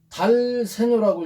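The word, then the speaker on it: dal segno: 자, 여기서 DS가 있으면 달세뇨라고 읽는데 이 세뇨로 가라. 이것을 세뇨라고 읽습니다.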